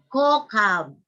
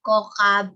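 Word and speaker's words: כוכב: Dahil kailangan ma-memorize mo na ang pag-pronounce nitong K na ito ay as, tulad ng kaf. Hindi siya K katulad ng ket. Yeah. Kokab.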